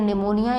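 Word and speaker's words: pneumonia: जैसे कि लाइक करें निमोनिया इसमें पीछे जो है वह साइलेंट है निमोनिया पर 9 मिलियन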